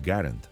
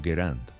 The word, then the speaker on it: Garand: Existe un debate eterno sobre su pronunciación. El nombre correcto es Garant por su diseñador. Sin embargo, muchos prefieren llamarlo Grand.